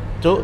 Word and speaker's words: Cok: Jadi tulisannya tetap Penyetanco, tapi dibacanya U gitu. Logat Kok sebenarnya. kayak, iya, aku tuh kalau Logat dengar sih. orang ngomong Surabaya tuh kayak orang ngomong cuk, tetapi kalau dia nulis cok gitu loh.